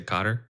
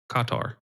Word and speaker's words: Qatar: Carter. Is that how you pronounce it? We can say guitar. That's okay. You mean guitar? You talking about guitar? Qatar.